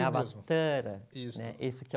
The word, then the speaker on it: Avatara: Avatara é um termo sânscrito, e a pronúncia correta é Avatara, com o A do tá, com um tio.